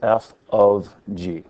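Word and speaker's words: f∘g: circle with G okay it's not fog it's F of G that's how you say it f of G I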